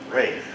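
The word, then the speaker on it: Ralph: with the lowly seaman, Rafe Rackstraw. By the way, that name, Rafe, spelled R-A-L-P-H, but it's pronounced Rafe.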